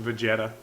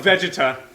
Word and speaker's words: Vegeta: forget what the word itself is it's actually pronounced vegeta yeah vegeta vegetable um i want to say vegeta tales